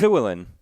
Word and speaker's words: Llewellyn: Llewellyn," and he yells at me. He's like, "No, no, no, it's Llewellyn. When it's Welsh, the double L is pronounced with a C."